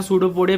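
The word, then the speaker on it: pseudopodia: हम लोग कहते हैं सूडोपोडिया पी साइलेंट होता है ठीक है तो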